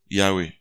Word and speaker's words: Yahweh: with them you see God's name is this yah Yahweh Yahweh is spelled h YH wh the the the the Hebrew alphabet doesn't have vowels only consonants the English we add a and then e and becomes Yahweh but the Hebrew is y